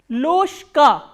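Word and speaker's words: ложка: Loshka. Why loshka? Because again there is a voiced consonant coming before the voiceless consonant.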